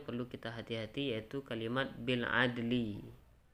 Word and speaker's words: بالعدل: Namun ada satu yang perlu kita hati-hati yaitu kalimat bil adli. Kalau kita berhenti jangan sampai tidak terbaca lam sukunnya. Jadi bacanya bil adl. Berbunyi lamnya sedikit.